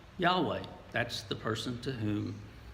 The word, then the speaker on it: Yahweh: asked him to do and it focuses on Yahweh that word doesn't appear in this reading but the original Hebrew Old Testament gave the name why H WH in all capitals for God roughly it's pronounced Yahweh that's the person to whom the Hebrew people